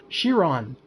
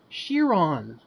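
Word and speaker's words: Chiron: Iran okay thank you shear on because it's French shear on thank you boy I feel like an idiot now I've been saying it wrong the whole time I put the French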